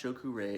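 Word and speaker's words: Cho Ku Rei: draw it out with my palm and um pronounced shokurei it's the power symbol of reiki in japanese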